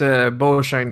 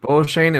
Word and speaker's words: Beauchesne: No, and just so you know, it's pronounced Beauchene. It's Beauchene, and Beauchene means beautiful oak tree in English.